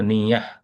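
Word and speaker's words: نية: হ্যাঁ, গোলতা বা ইয়ে আর কি, ওটা সাউন্ড হয় না আর কি। তো নিয়াহ।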